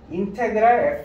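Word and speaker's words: integral: 영어로는 인테그랄이라고 읽어요. 인테그랄 fx라고 읽어요.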